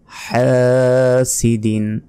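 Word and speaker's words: حَاسِدٍ: গুন্না হবে শাররি শাররি হাসিদিন হা এখানে গলার ভেতর থেকে উচ্চারণ হবে হা চাপ দিয়ে বলতে হবে আমরা অনেকে বলি ওয়ামিন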